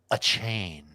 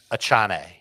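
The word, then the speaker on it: Achane: have uh Jones and a chain oh that's not how you pronounce it a Chan yeah okay well everyone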